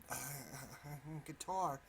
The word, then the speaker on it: Qatar: Qatar, or Qatar, either way, both pronunciations are correct.